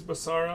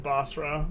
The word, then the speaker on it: Basra: be okay just realized General mispronounced uh Basra is basara all the time oh man I just can't read is actually the thing there's no extra a in there in bosra my bad no one's